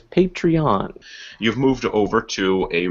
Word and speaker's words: Patreon: new system uh with Patron I asked them because I had no idea and the proper official pronunciation is patreon you've moved over to